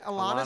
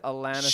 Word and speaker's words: Alanis: Alanis. Morissette. Alanis.